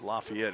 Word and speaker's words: Lafayette: heart of Lafayette Indiana if I say laf I might as well just get it out of the way that's how they pronounce the exact same word or name down in Tennessee LEF it's lafette here and there's another backward